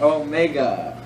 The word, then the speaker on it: Omega: Alright, Omega. And it's pronounced like a long O.